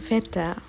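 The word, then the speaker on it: Wetter: ঝরা পাতা আবহাওয়াকে বলে ভেটা ভেটা এর উচ্চারণটা ভি কারণ হচ্ছে ডব্লিউ কে জার্মানরা ভি এর মত উচ্চারণ করে এর আগের আর্টিকেল হবে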